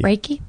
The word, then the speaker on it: Reiki: you're r uh uh how do you say ricky or reiki reiki reiki yeah reiki so you do reiki